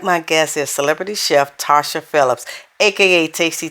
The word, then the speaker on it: Tarsha: I have with me Tasha Phillips. And you know what? I always get a name wrong. She always wants to kill me about it, but it's actually Tarsha, y'all. So with the R, all right?